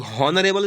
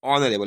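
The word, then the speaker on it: honourable: तो हॉनरेबल इसको नहीं बोला जाता है, इसको क्या होता है, ऑनरेबल।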